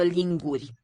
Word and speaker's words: linguri: O lingură, două linguri. Okay, listen to this final syllable. Final sound. O lingură, două linguri. Linguri. I think it's a voiceless, palatalized R.